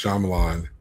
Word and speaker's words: Shyamalan: Pronounced Shyamalan. There's one particular person out there. I like I always like to with him for that. Um I don't know if it's actually pronounced Shyamalan and I don't really care. It's Shyamalan. You're welcome.